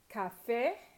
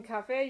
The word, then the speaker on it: café: Café, usually, since it ends in a vowel, you would usually stress next to the last syllable, but you don't. In café, you stress the last syllable, and it is a vowel, and so you have to put that accent on there for it to be correct.